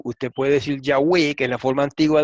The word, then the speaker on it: Yahweh: aprender a mostrar ahora, que la pronunciación antigua era Yahweh en cuanto al nombre sagrado.